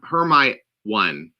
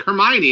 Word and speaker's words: Hermione: heard it said so when you see hermione it was like her ma her her my one her my own so hermione yeah you know it was like oh her and then i listened to the audiobook like hermione and i'm like uh oh that's how you say that i'm like herman oh okay